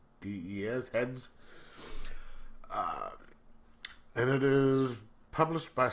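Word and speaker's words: Hdes: It is a trade paperback called She Bites, written by Hedwig Hale and Alberto, how do we pronounce that? H-D-E-S, Heads.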